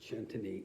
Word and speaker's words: Centine: ch this is uh called the shantani okay that's how they pronounce it chantani it's a 2016 it's